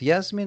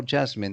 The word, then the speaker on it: Yasmin: Actually, Yasmin can be pronounced Yasmin or Jasmine. That's true. I forgot that. So there were the two ways of pronouncing your name.